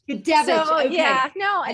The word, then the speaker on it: Gudewicz: super excited today to be bringing Gudewicz. Sorry, I did it again. Can you pronounce your last name for me? Absolutely. It's not an easy one. It's Gudewicz. Gudewicz.